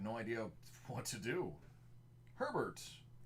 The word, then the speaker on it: Herbert: idea what to do Herbert rhymes with sherbert Josh Allen Full Throttle